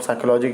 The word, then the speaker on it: psychology: याद रखिएगा, पी इसमें साइलेंट रहता है। ठीक है ना, पी इसमें आपका क्या रहता है, साइलेंट रहता है। पी आपको नहीं बोलना है, पी आपका साइलेंट रहता है, पी आपको नहीं